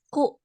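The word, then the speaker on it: 九: Kalau 9 itu kalau jam Ro, dibacanya jam ku ya, ku.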